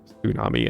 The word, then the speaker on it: tsunami: It's also why we say tsunami in English, because we borrowed that from Japanese instead of tsunami, even though we still spell it with the TS.